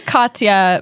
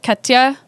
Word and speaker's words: Katja: I say Katja, but I think if you were going to say it like a German would say it, it'd be like Katja.